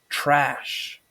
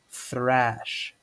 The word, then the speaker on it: thrash: First off, normally people pronounce thrash as trash, but it's actually pronounced thrash, thrash.